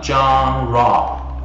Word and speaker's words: genre: Từ này nó hơi lạ một chút, chúng ta phát âm nó là genre, genre.